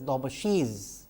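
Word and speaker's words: Daubechies: from dobash filters incidentally as I mentioned dobash or you know sometimes it is pronounced as dobashi has been a mathematician scientist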